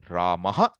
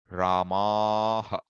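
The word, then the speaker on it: रामः: So you find that typically it's the shortened vowel. Ramaha, Ramaha. Ha is short.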